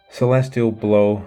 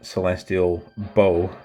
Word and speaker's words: Celestial Blow: Celestial blow. I was calling it celestial bow for ages cuz it's a crossbow. I called it that for about 4 years before I heard someone actually pronounce it correctly.